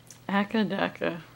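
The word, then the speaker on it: AC/DC: this time I'm like akadaka what does that mean that's just how they pronounce AC DC in Australia all right you want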